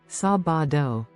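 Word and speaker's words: sábado: section seven sabido Saturday next we have sabido which is Saturday let's break it down sabado ready let's say it sabido pause for repetition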